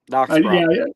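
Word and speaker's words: Dachsbracke: Applandis, yeah, the German pronunciation. Yep, Dachsbrock.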